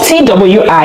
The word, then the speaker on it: Twi: Do you know that I usually pronounce Twi as Twi because the language is spelled T-W-I? It was when I said it, a Ghanaian corrected me and said it's Twi.